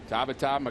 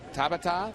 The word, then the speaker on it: Tabata: you wondering about pronunciation his name is Tabata that's how you say it with the Latin inflection that he has asked for but taba is also acceptable just like belron and